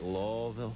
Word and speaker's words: Louisville: this improv Louisville it's a terrific are we pronouncing it right lville yeah that's the hill that's when our red